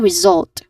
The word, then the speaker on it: result: Again result stressing on the second syllable following this is in